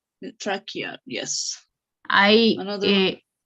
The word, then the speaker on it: trachea: Trachea. Trachea, yes. I Another one. the language Italian helped me to read this presentation because CHE in Italian pronounced que so algo Similar.